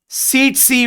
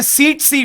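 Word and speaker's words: tsetse: Mosquito का नाम है सीटसी फ्लाई. सी the pronunciation, the first T is silent. ठीक है, इसे हम लोग कहते हैं सीटसी फ्लाई.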